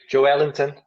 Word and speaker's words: Joelinton: Joelinton, as they say in Brazil. That's actually his real name, how you pronounce it.